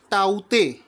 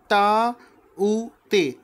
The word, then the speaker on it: Tauktae: दोस्तों, इस चक्रवात का नाम है टाउते। हिंदी में आपको बताता हूँ, इस चक्रवात का नाम रखा गया है टाउते। ठीक है, इंग्लिश में आप इसका स्पेलिंग देखेंगे TAUKTAE। तो इस चक्रवात का नाम है टाउके, और इसको म्यांमार देश ने इसका नाम दिया